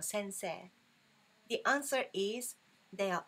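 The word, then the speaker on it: 先生: word in hiragana e although we spell this Sensei e we pronounce this one sensei not sensei okay but anyway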